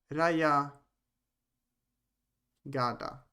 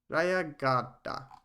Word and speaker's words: Rayagada: I don't know why it's spelled Jehanabad on the map, but it works. Raya Gada. No, Rayapa. No, Rayagada.